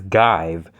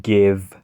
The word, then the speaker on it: give: You may think this says give, but no, it's give.